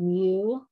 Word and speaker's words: mu: using this symbol it's a greek symbol called mu that's how we pronoun pronounce that and then we're also going to